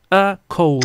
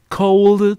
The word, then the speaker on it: cold: La otra cosa importante, profe Cristian, es que la Valesca, por acá dijeron que sonaba como la T, la B final. Como que pronunciaron una T.